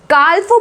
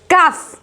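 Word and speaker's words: calf: देखिए यहां पर काल्फो बोलेंगे क्या, इसको काल्फो बोलेंगे, नो, it's wrong pronunciation, the right pronunciation is काफ, काफ। यहां पे कल्फ, यहां पे क्या है, एस एल साइलेंट है क्योंकि ये ए के बाद आया है, ए क्या है, वाउल।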